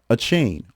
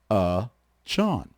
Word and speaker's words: Achane: Devon Achane revealed that his name was not Achane, also commonly mispronounced. Many fans thought because Achane looked like the chain, they went with it. But it's actually Chon.